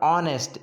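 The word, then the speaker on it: honest: ऑनेस्ट एक adjective है, बट यहाँ पर उसका जो साउंड जो आ रहा है वो एक वॉवेल से स्टार्ट हो रहा है। ऑनेस्ट, ऑनेस्ट यानी कि ओ, ओ यानी कि एक वॉवेल्स हो गया, तो वॉवेल्स से जो इसका जो साउंड स्टार्ट हो रहा है इसलिए अपन एन लगाएंगे।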